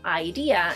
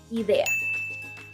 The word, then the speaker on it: idea: I know, once again, it might be tempting to pronounce it as it is in English because it's essentially the same word, but instead of saying idea in Spanish, we say idea.